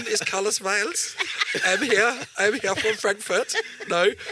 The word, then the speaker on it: Byles: So we've got a German pronunciation for the surname, Byles.